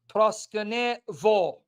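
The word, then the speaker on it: προσκυνέω: Proskeneo, it's not proskeneo, it's proskenevo.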